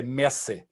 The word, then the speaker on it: merci: for to express thanks we say merci but we don't pronounce it french we pronounce it in a more crude bavarian where we say mercy warrants foreign there we